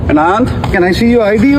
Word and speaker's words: Anand: His first name is Anand, A-N-A-N-D. Indians would pronounce it as Anand, but he identified himself as Anand at the beginning of the video.